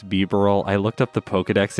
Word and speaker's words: Bibarel: I think it's Bibarel. I looked up the Pokedex entry pronunciation for it, so I'm going to go